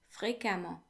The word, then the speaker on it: fréquemment: Fréquemment, fréquemment, which translates to frequently, fréquemment. Now, the E before the two M's in fréquemment is actually pronounced as if it were an A.